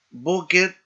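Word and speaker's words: בֹּקֶר: Aparte de este ejemplo que vimos con las dos segol, tenemos estas otras en donde recae el acento, el énfasis, en la primera sílaba, como por ejemplo, la palabra sefer, no, boquer, bal y na, recae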